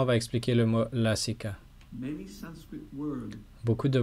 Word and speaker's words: Lasika: time it is the big A, the long Cette fois c'est pronounced A, un grand lassika. a. Donc on dit lasika, Lassika puzzle.